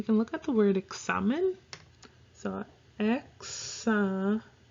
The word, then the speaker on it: examen: Technically, we do in a way, but phonetically, the way you would get it is EKSAMEN.